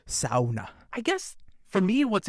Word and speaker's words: sauna: up at you because you pronounced it sauna instead of sauna.